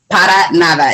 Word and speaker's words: para nada: it's kind of it's para nava para nada is the is is the correct way to say it usually when i tell